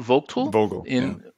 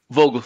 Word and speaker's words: Vogtle: In order to facilitate that construction and to lower costs, for example, how do you pronounce it? Vogtle. Vogtle, thank you.